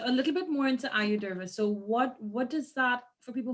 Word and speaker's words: Ayurveda: Okay, so a little bit more into Ayurveda. So what does that, for people who don't know, and because I'm not an expert with that, what does that entail? What does Ayurveda look like?